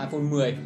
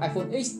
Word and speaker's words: iPhone X: X, thì chúng ta sẽ đọc nó là iPhone 10. Và đầu tiên mình cứ nghĩ là phải đọc iPhone X, tại vì trên màn hình hiện dòng chữ là iPhone X.